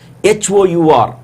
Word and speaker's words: hour: HOUR, though the letter is a consonantal letter, the sound it produces is vowel sound. H is silent almost.